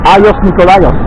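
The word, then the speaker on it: Άγιος Νικόλαος: Agios Nikolaios. They say Aios Nikolaios.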